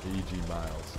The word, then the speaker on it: E.G. Miles: Yeah, E.G. Mills, heat and E.G. Miles. E.G. Miles, heat and energy. I've been saying it wrong the whole time.